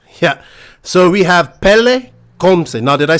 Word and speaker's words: Pelle: yeah okay you know how to hard to pronounce yeah so we have pele now did i say your name right yes